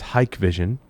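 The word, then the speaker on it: Hikvision: article they talk about it's pronounced hike vision you recognize that name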